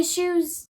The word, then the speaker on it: eschew: He eschews... How the fuck do you say that word? Go about pronouncing it.